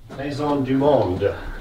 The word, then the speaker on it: Maison du Monde: Is it Maison? How do you say it, Al? Maison du Monde. Why is that how I said it? Yeah, you got it right that time.